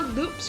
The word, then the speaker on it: Loupe: Turns out the pre-kit mirror loops from last episode are useful for more than just that flying spectrum finisher attack. Yeah, it turns out the E in loop is silent.